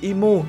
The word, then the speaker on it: Imu: thì nó như vậy còn đúng tiếng Nhật thì imu nếu lật ngược trở lại sẽ đọc là movie chứ không phải là umy nhá Dẫu sao thì